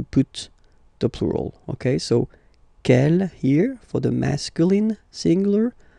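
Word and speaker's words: quel: Kell here feminine singular will become ke with the s fe feminine plural. And the good news is that you will pronounce them the same way.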